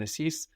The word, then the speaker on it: εσείς: And esis is spelled E-S-E-I-S. And there our E sound is made combining E and I. So they're written quite different, esi and esis, but to the ear, esis is just the plural, no?